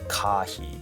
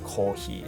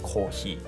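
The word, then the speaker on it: コーヒー: And it's much closer to British English because we don't pronounce it like kahi, it's like kohi, and we don't have F sound, so F becomes H, so it's like kohi, not coffee, because we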